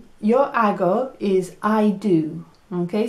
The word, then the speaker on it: hago: Okay, so it sounds like a little bit like ago, like 3 years ago. Well, it doesn't sound like that. It's hago, okay? And it's spelt with an H. But it's not hag. There's no hags here. It's hago. Yo hago.